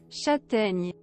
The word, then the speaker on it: Châtaigne: Also, for how that is actually pronounced in French. Should be able to hear this. Let's see if it, like, deafens you. Châtaigne.